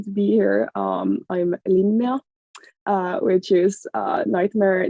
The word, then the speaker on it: Linnea: I'm so happy to be here um I'm Lina uh which is a nightmare name to pronounce it English but uh you're doing fine